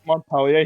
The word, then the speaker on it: Montpellier: Wasn't supposed to pronounce the R in Montpellier.